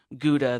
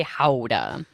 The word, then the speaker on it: Gouda: get a lot mm-hmm-hmm how does you say Gouda we say how'd uh I hear oh sorry